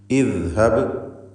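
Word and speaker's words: اِذْهَبْ: സാലിസുൽ ഫിഅൽ മദ്മൂമാണെങ്കിൽ ഹംസക്ക് ദമ്മ് കൊടുക്കുക, അല്ലെങ്കിൽ അഥവാ മഫ്തൂഹോ മക്സൂറോ ആണെങ്കിൽ ഹംസക്ക് കസ്ർ കൊടുക്കണം എന്നതാണ് നിയമം. ഇദ്ഹബ് എന്ന് കസ്ർ കൊടുത്ത് ഉച്ചരിക്കുക.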